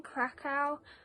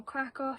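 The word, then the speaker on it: Kraków: been to poland um so we stayed in krakow um or krakow however you want to pronounce it and we went to auschwitz and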